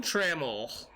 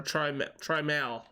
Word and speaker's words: Trammell: Alan Trammell. Or Trimal. That's how they try to pronounce it. Big dog. Yeah, there was one year they were actually pronouncing it Trimal. Like, it wasn't even right.